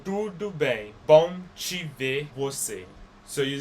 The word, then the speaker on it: você: There's an accent on top of that E, which we went over, and it makes it more like closed vowel sound. You're not going to pronounce that letter E, você. You're going to pronounce it você. You'll pronounce it closed.